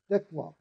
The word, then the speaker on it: dekwap: used with the word dekwap. Dekwap. Now, when I pronounce that word, you see that my lips continue to move, and I'm blowing out the last vowel of that word, which is If I